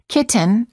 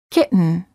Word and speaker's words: kitten: or written say written don't say kitten or kitten say kitten words for practice certain gotten